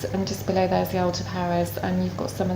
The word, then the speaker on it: Algeciras: Yeah, you're right on the edge of the Algeciras, or Algeciras as they pronounce in Spain, and again that is